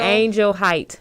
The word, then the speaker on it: Angel Height: Angel Height, just as it is. Angel, and then like your height. It's spelled just like that.